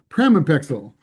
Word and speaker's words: pramipexole: Jessica Krantz developed an item for Project Chance that asked, have you ever been prescribed or used I always pronounce this wrong, pramipexole, known as Mirapex, to help control your gambling.